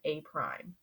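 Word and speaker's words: A′: be A with this little dash, which is pronounced A prime.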